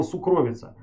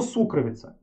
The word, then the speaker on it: сукровица: Никому слух не режет слово сукровица. Потому что я всю жизнь думал, что правильно говорить слово сукровица. Но сукровица. Вот так вот.